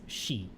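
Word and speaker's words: 四: can pronounce it is she. And she is one of the ways you can say four.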